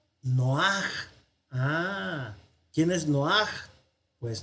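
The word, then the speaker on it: נֹחַ: Nojá, nojá, pero no es nojá, sino que este pataj, la rayita de abajo, se conoce como pataj furtivum. Significa que se pronuncia antes. Es un pataj furtivum, o sea, que se escapa. Entonces, en lugar de decir nojá, vamos a decir noaj.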